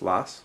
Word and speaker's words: Lass: Lass. Is that how you pronounce it, Lass? He's gonna kill me if he ever hears this. L-A-S. L-A-S? Lass? Yeah, Lass.